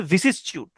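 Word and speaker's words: vicissitude: ভিসিসটিউড, উচ্চারণটা হচ্ছে ভিসিসটিউড।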